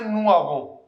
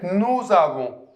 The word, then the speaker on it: nous avons: We don't say nous avons. We say nous avons. So, if the next word starts with a vowel, then you can pronounce the last consonant.